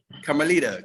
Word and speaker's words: Carmelita: Nice to meet you, Carmelita. Am I saying it right? Carmelita? Carmelita. Carmelita Cruz.